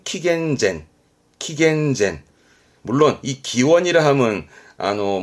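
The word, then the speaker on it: 紀元前: 기점을 중심으로 나누게 되는게 기원전 기원후죠 이때 씁니다 발음은 킥앤젠 물론이 기원이라함은 아노 뭐 종교적인 뜻도 있긴 하긴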